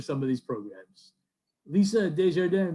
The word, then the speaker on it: Desjardins: Now, how did I do on the pronunciation? Am I anywhere close? You are. Okay. You are. Desjardins. Desjardins.